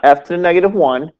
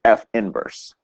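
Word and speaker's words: f⁻¹: it's f inverse so it's not F 2 negative 1 it's F inverse so the originals f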